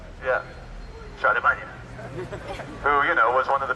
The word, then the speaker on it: Charlemagne: Did I pronounce that right? Charlemagne? Yeah. Charlemagne.